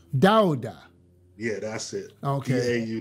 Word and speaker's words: Dauda: you spell your last name how do you pronounce it it's dowder dowder yeah that's it okay you did yes i